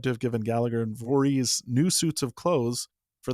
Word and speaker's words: Voris: John Hay described William Voris, and he pronounces it Voorhees, as a half-grown hobbledehoy from Bear Creek whom Joseph shot in the shoulder.